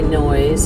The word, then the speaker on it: Noyes: So this is actually Noyes. It's spelled Noyes.